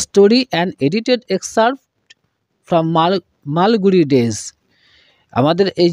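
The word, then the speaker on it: Malgudi: মধ্যে ইনি হলেন একজন his notable works include মালগুড়ি dress and the guide তোমরা লক্ষ্য করবে এম এল মাল জি ইউ ডি আই গুডি এরকম উচ্চারণ আমরা করবো না এখানে ডি এর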